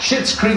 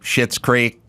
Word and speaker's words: Schitt's Creek: It sounds like Schitt's Creek, S-H-I-T, but it's not because it's spelled different.